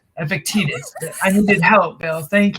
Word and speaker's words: Epictetus: that quote it was from epic titus i think that's how you say it epictetus i needed help bill